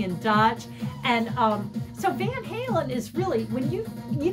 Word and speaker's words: Van Halen: interviewed and speaking in Dutch and um so Van Halen is really when you you think California when